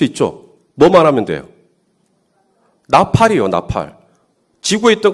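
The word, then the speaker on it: נָפַל: 이 항복이라는 말이 히브리어로 나팔입니다. 나팔. 우리가 나팔 본다 할 때 그 나팔하고 똑같은 발음입니다.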